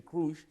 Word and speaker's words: Krush: a photo of irina crush ukrainian she was born in ukraine right they pronounced it fellow ukrainians would say irina krush okay we say crush i think she's she accepts the pronunciation crush because she likes to